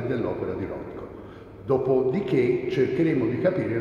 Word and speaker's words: Rothko: Lui mi ha detto che casomai, in italiano si dovrebbe dire Rothko, perché noi nella nostra lingua non siamo tenuti al TH inglese, ma se lo pronuncio all'americana è Rothko.